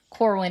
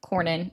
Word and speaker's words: Cornyn: And then what was going on was Corwin is saying, or Cornyn, I keep saying his name wrong.